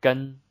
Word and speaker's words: 跟: So here, 跟 has the N sound.